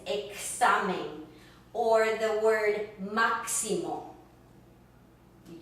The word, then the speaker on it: examen: When it comes, again, between vowels, for instance, as in examen, examen, it sounds like that K and an S put together.